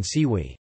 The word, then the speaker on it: siwy: For example, the s in siwi, gray-haired; the c in siarka, sulfur; and the in shvente, holy, all represent the sound.